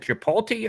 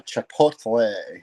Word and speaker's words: Chipotle: had meta IBM Ford you do you pronounce it chipot or chapot uh Chipotle Chipotle okay so uh where are